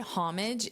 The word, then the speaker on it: homage: So, you can just put this word homage in ugly and you'll see all the results and you can see how many times the speakers pronounce the H, how many times they don't.